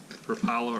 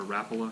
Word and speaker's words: Rapala: month, and that is Rapala, or Rapala, however you want to pronounce it, Scatter Wrap.